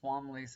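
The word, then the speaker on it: Twombleys: I believe they were named the Wombleys. So it's TW, but I believe it's Wombleys. I think the T is silent. Um, so they decided to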